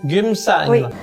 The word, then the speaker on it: Geumsan: village gumsan en Corée du Sud comment tu prononces gumsan gumsan d'accord c'est le le le l'endroit où on